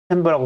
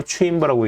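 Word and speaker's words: chamber: 여기 투명한 유리 상자, 챔버라고 쓰고 체인버라고 읽는다.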